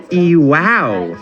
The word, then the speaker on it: EWOW: pronounce ewow so far I've been putting the separator between the E and the W making it ewow which sounds super positive